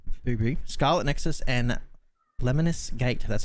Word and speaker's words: Lemnis Gate: but mighty goose right booby scarlet nexus and lemonis gate that's how you pronounce that one that's covered by me um